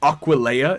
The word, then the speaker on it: Aquileia: Aquileia is how you say it.